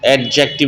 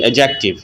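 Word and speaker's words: adjective: इस्तला है एडजेक्टिव एडजेक्टिव एडजेक्टिव नहीं एडजेक्टिव D silent है मींस सिफत इसकी तारीफ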